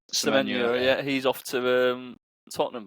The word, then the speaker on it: Semenyo: And then the forward, is it Semyon? Is that how you pronounce it? Semenyo. Semenyo, yeah, he's off to Tottenham by the sounds of it.